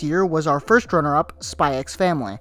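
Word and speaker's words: Spy × Family: was our first runner-up, Spy X Family. Or Spy Family. You know, why put the X if you're not going to pronounce it?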